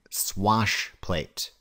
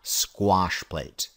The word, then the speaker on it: swash plate: Note I'm pronouncing it swash plate, not squash plate. Don't be the person that demolitions a perfectly good interview by telling a prospective employer all about squash plates.